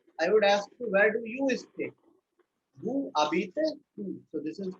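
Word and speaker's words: habite: Who abite? Who. So this is called abite. Right? The Z is not pronounced here and the H obviously not pronounced.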